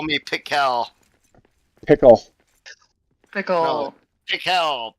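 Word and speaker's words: Pikel: Ivan and it's spelled P I K E L, but it's Ivan and Ivan and Pickle.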